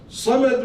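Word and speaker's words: صمد: But sometimes I'm lazy, I can't be bothered to pronounce the Sad. So I say Samad with a Sin, I don't pronounce the Sad. Meaning changes now.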